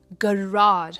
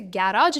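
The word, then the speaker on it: garage: सबसे पहला है गराज। हम इसे गैराज नहीं कहते।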